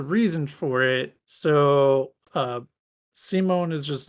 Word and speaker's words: Simon: there in the center his name is simone it's spelled simon but they say simone so i'm just like okay